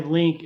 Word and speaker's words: Lynk: they're at yeah and I'll just say link uh it's spelled l-n-y-k and we'll drop a